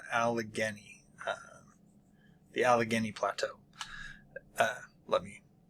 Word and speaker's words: Allegheny: Then we have the Allegheny Plateau and the St.